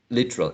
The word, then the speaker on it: literal: So speakers may say this word using 3 syllables. Some may say 2.